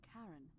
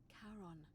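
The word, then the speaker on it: Charon: It's just as you described it, only your pronunciation is a little off. The name you heard wasn't Karen. It was C H A R O N. in Kon, the fairyman of the dead.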